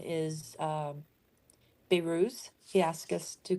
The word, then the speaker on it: Behruz: Beiruz? Yes. It is. He spells it this way. Behruz. And it's pronounced Bal. Ruse.